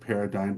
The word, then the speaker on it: paradigm: Paradigm. That's what it should be, because the silent G is just creepy.